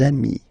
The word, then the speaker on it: amis: you will get des amis, okay? Des amis. So ami, remember, doesn't change. Even if you get to write the S, then you don't pronounce it, okay?